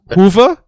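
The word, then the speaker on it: Hoever: I I remember you corrected me for this pronunciation last time uh it's Hoover Hoover oh I've I've changed that now myself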